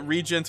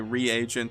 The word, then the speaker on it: reagent: It's pronounced regent. JK. I called it regent forever before I was so adamantly recorrected that I had now I it's a 50/50 whether I say reagent or regent reagent pointedly looks at chat I